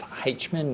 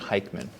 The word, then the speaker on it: Hichman: And it's pronounced Hichman, not Hichman.